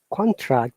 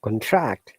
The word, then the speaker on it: contract: please bear in mind contract is a noun but contract is a verb so you've got to